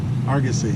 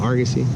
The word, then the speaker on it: Argosy: How do you pronounce that? Argosy. Argosy.